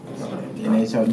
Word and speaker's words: NHO: NHO, you gotta say it like that, NHO Nelly.